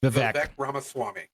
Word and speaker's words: Vivek Ramaswamy: It's pronounced Vivek Ramaswamy. I'm sorry I fucked that up.